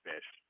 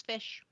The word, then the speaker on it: ghoti: it would be pronounced fish, but it wouldn't look like. So. Yeah. GHOTI. GH as in tough. O as in I don't remember, and TI as in initial. It spells fish.